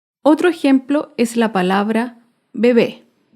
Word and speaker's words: bebé: Otro ejemplo es la palabra bebé. Bebé es una palabra aguda. Se acentúa en la última sílaba y lleva tilde porque termina en vocal.